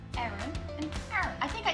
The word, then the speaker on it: Aaron: Which in my world is pronounced exactly the same as the girl name, Aaron.